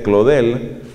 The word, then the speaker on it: Claudel: Un ateo famoso de comienzos del siglo XX, un hombre llamado Paul Claudel, pronunciado obviamente Claudel, Paul Claudel llega así